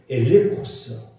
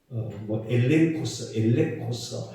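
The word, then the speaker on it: ἔλεγχος: 이 증거라는 말은 엘레코스, 엘레코스 이렇게 발음을 하는데 이 객관적인 증거물이 바로 이 엘레코스라고 하는 단어예요.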